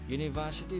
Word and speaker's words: university: a red a university university begins with a consonant sound here as in you we use and with